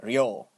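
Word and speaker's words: Ryō: this makes a sound ryo so and his name is uh with and and the vowel is elongated by a u vowel right after it so his name would be pronounced ryo so that's real horikawa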